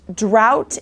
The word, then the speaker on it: drought: ugh tea ending is complicated for people it's pronounced drought and it means a long period when there